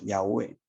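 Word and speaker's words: Yahvé: a seguir yo soy en hebreo llave o mejor dicho yagüe porque casi impronunciable que está el drama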